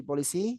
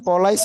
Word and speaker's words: police: Dia tidak akan menjadi polisi. He will not be he will not be police. Eh, bukan polise ya, Guys, ya. Bacanya polis.